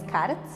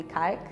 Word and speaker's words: Karc: my name is Kart I know that people here in London call me K but actually the original pronunciation is Kart so I am U